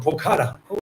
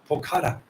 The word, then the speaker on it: Pokhara: From Pokhara. Okay, Pokhara.